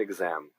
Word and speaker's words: exam: Failed an exam. E o X aqui fazendo um som de exam, como se fosse um G e um Z, né?